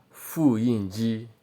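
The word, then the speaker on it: 复印机: Now photocopy machine is pronounced as fu yinji.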